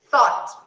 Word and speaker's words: thought: The same sound of bought. We thought.